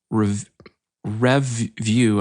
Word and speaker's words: Revvue: The other one, which I think is a way better site, is called Revview. I'm going to spell it because the way I'm saying it is not right.